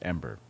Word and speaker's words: EM8ER: let's see drums em8r e mater it's not pronounced e mater by the way is pronounced ember the planet's designation is em-8er of course by